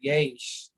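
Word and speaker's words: יֵשׁ: chapter okay so yes the way you can remember yash is uh so it sounds like the word yes okay yes yeah yes all right i mean it it reminds you of the english word yes and so what yes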